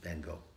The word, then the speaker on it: van Gogh: effect of absinthe on Vincent van Gogh, or Van Gogh, if you want to say his name properly.